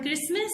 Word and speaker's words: Christmas: This word Christmas starts with K pronunciation, so we will circle this word.